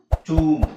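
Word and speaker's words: tomb: silent so ಇಲ್ಲಿ ನೋಡಿ ಟಿ ಓಎಂ ಟಾಮ್ ಆಗುತ್ತೆ ಟಿ ಓ ಎಂ ಬಿ ಟೂಮ್ ಆಗುತ್ತೆ ಇದು ಇಂಗ್ಲಿಷ್ ಅಲ್ಲಿ ಕೆಲವು ವಿಚಿತ್ರ ಪದಗಳು ಇದಾವೆ ಅದರಲ್ಲಿ ಉಚ್ಚಾರಣೆ ಸ್ವಲ್ಪ ಚೇಂಜ್ ಆಗುತ್ತೆ ಅದರಲ್ಲಿ ಇದು ಒಂದು ಟೂಮ್ whom double ಓಎಂ ಬಿ ಬಂದಾಗಬಿ silent ಮಾಡಬೇಕು ಏನ್ ಹೇಳಬೇಕು ವೂಮ ಟೂಮ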